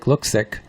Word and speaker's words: Luksik: Peg Luksik, and that's spelled Luksik, but it sounds like Luksik.